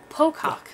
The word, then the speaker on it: Pocock: It just like it's spelled. BR Pocock.